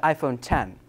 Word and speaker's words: iPhone X: iPhone 8 plus and iPhone 10 but it's spelled iPhone X but to keep track